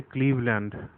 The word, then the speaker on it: Cleveland: इसको क्लेवलैंड नहीं कहते, क्लीवलैंड बोलते हैं, क्लीवलैंड.